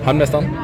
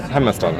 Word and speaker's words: Hamnmastaren: Hamnmastaren?